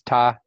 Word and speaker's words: 她: So this, if you read these two things together, it's ta.